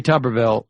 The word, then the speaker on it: Tuberville: doubt i mean i think like we tommy tuberville is that how we pronounce his name yes i mean i think there's no doubt that tommy tuberville is the at least the least informed as